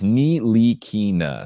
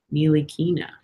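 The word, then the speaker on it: Ntilikina: There's no T. You don't say the T. It's Knee Lee Keena, so it's like knee, Bruce Lee, And key then to open a door, and then nah.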